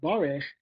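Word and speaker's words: בָּרֵךְ: The word is spelled bar with a kamatz. Barech, it's pronounced.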